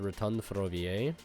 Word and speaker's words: Rotonde Ferroviaire: We're going to play the Revolving Switchyard, the Rotonde Ferroviaire.